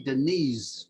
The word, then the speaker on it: Denise: When I was growing up in England, we didn't pronounce it Denise. We would say Denise, like with a Z.